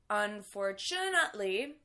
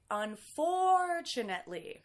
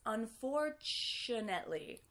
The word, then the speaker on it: unfortunately: we say this one a big mistake that I usually hear is the wrong stress like unfortunately but we actually want to say unfortunetly also do you hear how that he becomes a Shh it's not on for two Netley that's another mistake that I hear a lot it's unfortunately I would use it